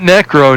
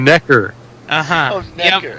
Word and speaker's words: Necker: my name's my name's Necker not necro Necker okay that's what we're